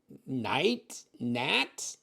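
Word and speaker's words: Knaiat: I mean you could k n a i a t KN Nat can can can I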